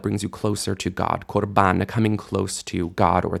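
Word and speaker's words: קָרְבָּן: This word might look like it says karban, but it really says korban, because the stress is on ban, and kar is a closed syllable, so the a shifts to o, korban. And you can really see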